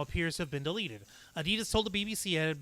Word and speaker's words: Adidas: Last week, sportswear firm Adidas, and I remember Steph was actually having trouble pronouncing it. It's Adidas, not Adidas, but like Adidas.